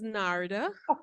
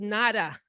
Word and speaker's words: Narda: My name is Narda. I like to pronounce the R because if you notice this morning, she used the word nada, which is not my name.